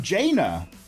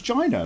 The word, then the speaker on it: Jaina: I think it's pronounced... oh, Jaina! Jaina Proudmore! But I thought it was Gina, like vagina.